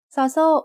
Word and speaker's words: ซอโซ่: ซอโซ่ makes an s sound like the S in sun when it's the initial sound of a syllable. And when it's the final sound of a syllable, it also makes a T stop, which is a dead sound.